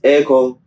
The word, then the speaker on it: Eko: yeah and then yeah sometimes people actually spell it as Echo as in sounding real Echo yeah real Echo and